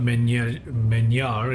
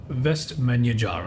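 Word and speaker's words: Vestmannaeyjar: finally I got it best menu jar is not many meniere it's menu jar okay so I'm still navigating the rules of pronouncing Icelandic names but it's vest menu jar okay okay let's turn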